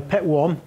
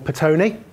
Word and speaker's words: Petone: But this is a site that, depending on your pronunciation, is either Petwan or Petone Overbridge.